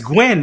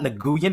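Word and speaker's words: Nguyen: I'm gonna call you no it's gwy that's gwy that's not nguan it's gwy I've met too many people who pronounce their name spell it exactly the same and they're really the 99% that I've met pronounce it GW I had a former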